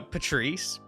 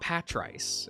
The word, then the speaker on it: Patrice: So, you know, uh, Patrice. Yeah, that's how it's pronounced, right? I'm I'm secondg guessing myself with this. It's like, it is not Pat Rice. It is Patrice.